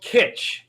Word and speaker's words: Kitsch: So, it's called Kitsch. It's spelled weird.